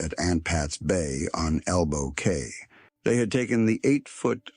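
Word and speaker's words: Elbow Cay: I think that's pronounced Elbow Key, although it's spelled C A Y and AI doesn't know the difference.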